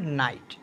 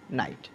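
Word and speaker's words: night: হবে সে অংশটুকু কি হবে আই হবে যেমন নাইট যেমন নাইট মানে যদি আমরা জির উচ্চারণ না হয় তাইলে আই আর এইচ দেখ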